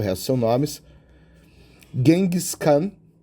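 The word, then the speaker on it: Genghis Khan: Gengcan, a gente fala gengiscan, se escreve diferente aqui também, mas hoje em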